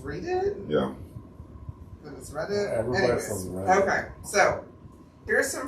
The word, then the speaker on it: Reddit: robot I seen robot I feel like it should be pronounced read it yeah Okay so here's